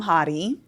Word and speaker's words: Hady: So, it's hottie like haha.